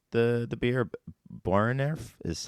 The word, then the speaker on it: Boerenerf: But for this, and how do you pronounce the beer? Boerenerf is how I would. Boerenerf.